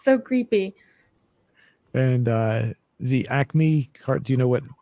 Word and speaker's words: Acme: I wasn't sure if it was pronounced Ace Me or what.